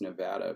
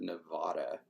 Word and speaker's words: Nevada: Like, everybody who's from the West Coast knows that it's Nevada, but apparently all those East Coast people pronounce it Nevada, and it just sounds so silly.